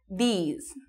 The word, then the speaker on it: these: With E, you smile. These. You see the big smile? These. With the I, you don't really smile. This. You have a serious face.